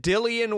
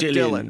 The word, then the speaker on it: Dillian: already first of all how do you say dil is it dillian white not dylan right jillian white yeah well that that